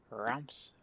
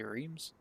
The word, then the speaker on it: Reims: Kind of looked up the pronunciation. Reims. If I was to just say it not knowing, I'd say Reims.